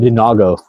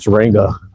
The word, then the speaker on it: Durango: And some people call it Dinago because it's the way it's spelled. I don't know on that situation, but when I called them to order a part, it was Durango, and I tried to